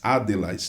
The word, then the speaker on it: Adlas: E se a pronúncia é a mesma, Adlas, né? Porque pode-se falar Adelas, né?